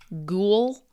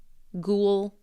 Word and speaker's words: ghoul: There's also the same pronunciation but different spelling. Ghoul. Same sound. Tulle. Ghoul.